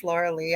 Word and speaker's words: Lorilei: It's spelled like Lorelei, but it's Lorilei.